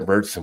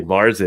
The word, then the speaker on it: Märzen: But points to you too, because you said Märzen, which I was enjoying because it's just like I see some people say Marzen, and it's like that's not. Yeah. I mean, that's the American version, I guess, pronounce it.